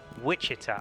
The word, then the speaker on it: Wichita: It's pronounced Wichita.